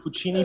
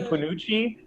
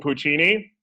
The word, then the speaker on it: Puccini: think i didn't know what opera was i pronounced puccini panuchi you know i i did i did i